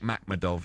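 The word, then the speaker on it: Makhmudov: Arlen Beck Mcmadov is how you pronounce it.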